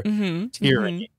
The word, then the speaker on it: tyranny: I have to remember tear, like a teardrop from my eye over that extreme authoritarianism that's possible under tyranny.